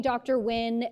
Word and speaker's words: Wynn: bit uh call me Dr Wynn uh it's pronounced win like the Bucks will win the championship game so simply like that